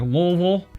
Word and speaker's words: Louisville: a big festival like this also speaking of louisville or as the locals say it like louisville it holds a little bit of a special